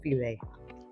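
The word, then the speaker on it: filé: Looks like file, but it's pronounced filet.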